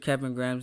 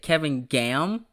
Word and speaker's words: Kevin Graham: i remember one time she actually butchered kevin graham's name and i said kevin graham me and ethan died for like two she said kevin gam that's that that's funny